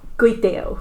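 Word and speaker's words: គុយទាវ: Gudeo, that's the proper way to pronounce it in Khmer, but it's gudeo with Kurang Samot, I would say.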